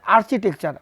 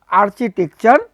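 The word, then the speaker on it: architecture: আর্কিটেকচার ঠিক আছে বলছে আর্কিটেকচার মানে আর্চিটেকচার উচ্চারণটা হবে আর্চিটেকচার অফ দা পেরিয়ড রেনেশনস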